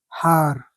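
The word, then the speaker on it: הַר: So it's read He, Patah, Resh, Har.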